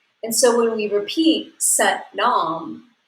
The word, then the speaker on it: Sat nam: is s-a-t-n-a-m pronounced so sat rhymes with but and nom grinds with mom so just like but mom it's set nom so i'll also be